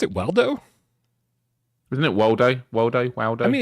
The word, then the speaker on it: Waldo: it' be amazing do you know what where's Waldo is called in the UK and I K